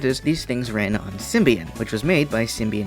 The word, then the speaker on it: Symbian: In which case, I'm going to go with the British pronunciation because Symbian sounds like symbiote, so it's easier to say. Plus, Symbian just sounds dumb. Besides, why would you say this as Sian if you say this as symbiote?